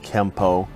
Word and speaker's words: Kenpo: this would mean that Kenpo is technically spelled with an N but should be pronounced with an M through romanization it is sometimes spelled Kempo but we are at